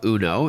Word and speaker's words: Unoo: All right, so the name of the company is UNO, but it's spelled U N O O, and I understand you've got one model, but a couple of different colors.